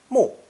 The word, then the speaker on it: 目: to vision and seeing this character is pronounced fourth tone mu but it's not the